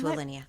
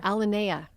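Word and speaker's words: Alinea: Yeah, I've been to Alineia. I have mispronounced that restaurant name for years and years and years until somebody corrected me. What' you call it before? Alana.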